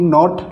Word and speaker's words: knot: KNOT, नोट, नोट यानी गांठ।